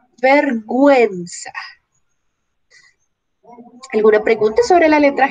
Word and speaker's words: vergüenza: En estos dos casos la U no tuviera diéresis, leeríamos pinguino, vergüenza, pero como tiene la diéresis, pingüino, pingüino, vergüenza.